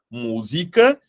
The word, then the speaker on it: música: Música é proparoxítona. Veja só, eu vou montar aqui para vocês conseguirem entender aqui o que eu estou querendo dizer. Vou separar, ó. Música. O acento, ele está na antepenúltima sílaba. Essa sílaba é a sílaba tônica. Então, aqui, a palavra música, ela é proparoxítona. Ela não é paroxítona.